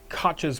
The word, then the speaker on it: Koch: And so now, again, just doing some digging, Koch's postulates, that's not how you say it, it's a German name, that's not how I say it. It's Koch. Koch.